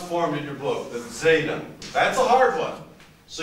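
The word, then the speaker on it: ζ: the line like this zeta and that of course is the it's a dz sound a dz sound so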